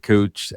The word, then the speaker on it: Kuoch: Couch is how you pronounce his name. So, search for David Couch at Citi on LinkedIn.